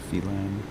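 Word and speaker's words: Phelan: right um he succeeded he didn't fail n or felin however it's pronounced p h e l a n felen and I think he's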